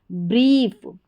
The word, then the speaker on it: brie: तो पूरी स्पेलिंग देखेंगे, BR को ब्र पढ़ा जाता है, ठीक है, ब्र, तो यहाँ पर BR के बाद में IE है उसको ई पढ़ेंगे, तो ये बन गया ब्री, BRIE, ब्री।